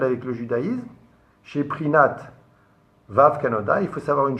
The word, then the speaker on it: Vav: Et le Vav lui-même, écoutez bien, on ne peut pas le prononcer sans un autre Vav. Si je veux dire Vav maintenant, j'ai dit 2 fois V.